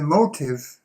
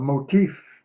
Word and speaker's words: motif: So you see the motive, or a motif, to pronounce it correctly, is that little phrase,